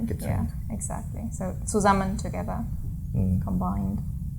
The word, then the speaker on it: zusammen: So zusammen. With buzzing S. Yeah, the S is always buzzing when a syllable begins with it.